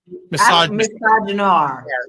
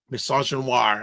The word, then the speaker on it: misogynoir: How do you pronounce it? Misogynoir. Misogynoir against Harris.